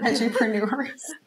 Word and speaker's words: edupreneurs: the journey you've been on with talking to edupreneurs. How do you say that? Edupreneurs.